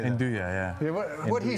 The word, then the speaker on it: nduja: Describe, I can't, such words I've never even heard of, like Nuja, how do you say that? Nduja, yeah.